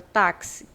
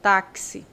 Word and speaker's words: táxi: Assim, ó, táxi. Táxi. Então, esse KS aqui tem som de X.